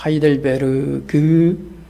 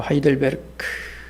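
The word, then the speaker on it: Heidelberg: 독일어도 마찬가지입니다. 하이델베르 그라고 쓰지만 마지막 그 유성음을 크로 가볍게 발음합니다. 그래서 하이들베르그 그렇게 말하지 않고 하이들베르크 그래서 이걸 영어로 하이델베르그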